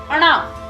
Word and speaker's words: ण: ये जो व्यंजन है इससे भी अपना कोई शब्द नहीं बनता है, ये किसी दूसरे व्यंजन के पीछे लगता है, इसका उच्चारण होता है अणा।